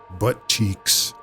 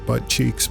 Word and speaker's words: Buttcheeks: actually playing, that that his name could be pronounced 2 different ways. One of them, sophomoric, very childish and thoroughly teenage boy Biff Buttcheeks. But then we could take it a step farther and add just a dash of adult pronunciation and call him Biff Buttcheese. So who knows?